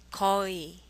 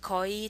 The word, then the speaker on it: 거의: 거의. 거의. 의 is very difficult to pronounce in Korean. If you pronounce it as if it's just 이, 거의, that would be fine.